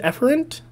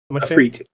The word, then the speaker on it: efreet: Okay, how do you say this? Is it efferent? Efreet. Efreet. There we go.